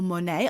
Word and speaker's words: Monat: Then there's something, Michelle, which you might be interested in, called Monat or Monet. I don't know how you pronounce it. It's Monat.